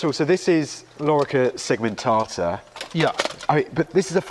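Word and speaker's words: lorica segmentata: it would be pronounced Lor segmentata so both the O and the E are long Lor segmentata so the Romans wouldn't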